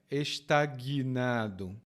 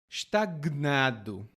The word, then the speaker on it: estagnado: E estagnado, e aqui observe bem a minha pronúncia, estagnado. Em outros lugares, outras pessoas vão dizer estagnado. Mas não precisa se preocupar. Você pode também dizer estagnado.